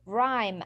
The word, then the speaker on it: rhyme: No, I will say rhyme, and the H is silent.